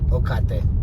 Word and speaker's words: Ocate: I say it like Tecate, like the beer, Ocate.